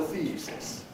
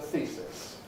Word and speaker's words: thesis: And it's not called a thesis, not by native speakers. It's a thesis. Thesis. Voiceless S, therefore, Pre-Fortis Clipping.